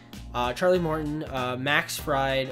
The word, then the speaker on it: Fried: charlie morton uh max fried or freed i think that's how you say it freed or fried i think it's freed even though it's spelled pride ian anderson and then drew